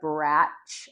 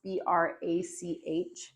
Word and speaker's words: Brach: I'm reading a book called Radical Acceptance by Tara Brach, I think is how it's pronounced, Brach.